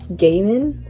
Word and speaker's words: Gaiman: realized today that i've been pronouncing his last name wrong it's actually neil gaiman i always thought that was an l so